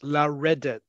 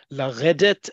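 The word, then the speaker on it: לרדת: There is a significant difference between laredet and laledet. Okay? You need to practice pronunciation as much as the spelling.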